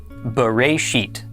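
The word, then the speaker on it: בְּרֵאשִׁית: This is pronounced Bereshit.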